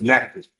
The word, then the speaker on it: Natchitoches: I've been mispronouncing I county. know, it's Natchitoches.